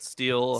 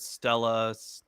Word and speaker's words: stele: This is pronounced like in multiple ways. I usually pronounce it Steel. Steel. I've heard Stella, Steely. I've heard Steely Earlier today apparently we is heard one of the Steely.